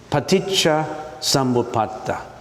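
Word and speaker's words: paṭiccasamuppāda: Now why don't we just you listen to how I pronounce it? It's paticha samata.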